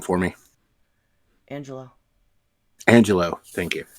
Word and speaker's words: Angelou: last name for me angelo angelo thank you i know it looks like angelou but it's angelo okay i just wanted